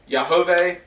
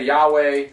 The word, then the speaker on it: Yahweh: it forever we say some people would say that you pronounce it yahuwah i say yahweh so just to make